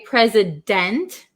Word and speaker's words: president: can say pray pray so this has like a z sound present didn't so we don't usually say president in american english is